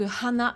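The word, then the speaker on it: はな: Hann et ça justement c'est hyper important de prononcer les h en japonais puisque Hann ça peut vouloir dire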